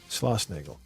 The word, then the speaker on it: Schlossnagle: It's Schloss, so S-C-H-L, Schla, and then Osnagle, O-S-S, two S's, N-A-G-L-E, Schlossnagle.